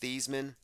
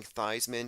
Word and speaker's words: Theismann: when it happened now his name is probably pronounced these men but I'm saying thighs men because it's very interesting